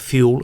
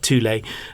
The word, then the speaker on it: Thule: So there's a number of brands that make bike racks, typically Fiamma and Thule, and that's how it's said, not Fuel, but Thule.